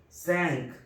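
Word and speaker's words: cinq: Q, ka, sank, sank.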